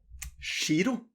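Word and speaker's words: giro: Shiro. Shiro means invoice. Giraffe. Giraffe. When you have the G-I-R and then O like that, it becomes a shiro.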